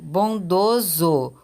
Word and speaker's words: bondoso: olha mais um exemplo bondoso som de z então escrevo com essa também temos poetiza com